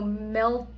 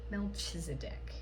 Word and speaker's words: Melchizedek: So, Melchizedek.